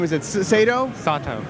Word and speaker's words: Sato: do you say your last name is it sado sato sato i'm the merchandising manager in sony corporation at